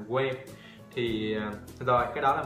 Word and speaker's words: quê: Ok, mình phát âm chính xác là quê. Ok, nhưng mà một số bạn là quê.